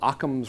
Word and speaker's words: Occam: All right, you ever heard of this thing called Occam's razor? It's spelled O-C-C-A-M-S.